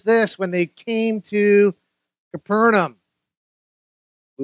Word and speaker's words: Capernaum: verse 24 says this when they came to capernaum the letter bible says it's pronounced capernaum comes from the hebrew meaning the village of